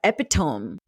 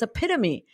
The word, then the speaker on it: epitome: was in sixth grade that it was a epitome and I was so confident that the word is pronounced epitome and he said mom you're wrong